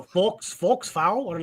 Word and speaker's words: faux: This deluxe edition features a stunning foul fox forks.